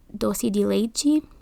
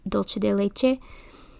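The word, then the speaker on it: dulce de leche: sometimes she adds uh dosi de lechi or as in Spanish it's dolce de leche and it tastes so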